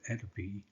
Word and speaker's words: atopy: has dermatitis asthma or hay fever people with atopy are most likely to develop dermatitis acid and